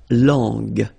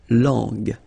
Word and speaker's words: langue: sound J, okay, so you get to put this U between the two to get the sound g, g. So you get la langue, langue.